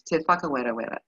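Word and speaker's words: Whakarewarewa: this so this is te whereaba and yes i did just say that uh the wh of course is the f now you're practicing aren't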